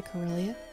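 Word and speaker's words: Kirlia: which is freaking adorable a kilia that's a cilia that's how you say it yeah a chimy Cho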